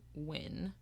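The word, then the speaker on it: Wynne: that she names Billy win and I hope that I'm saying her last name right it's spelled w y n NE e yeah I would say win okay I'm like Billy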